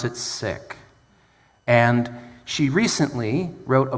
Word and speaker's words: Sikh: Some people pronounce it Sikh, but actually they pronounce it Sikh.